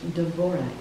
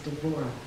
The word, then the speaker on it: Devorah: This week, we're going to briefly explore Deborah, pronounced Devorah in Hebrew, and out of deep respect for Deborah and her Hebrew heritage, I will refer to her as Devorah going forward.